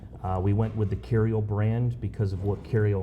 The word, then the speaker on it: Curio: Now this is also a and I want to make sure I say it right a curial how do I say curio resort by curial resort by Hilton.